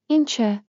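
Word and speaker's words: ինչ է: Meaning first, what is in Armenian is Incha. Say it like this. Inch what plus e as plus your mystery blank.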